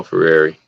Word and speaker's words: Freire: Paulo Ferrari. That's how you say his name.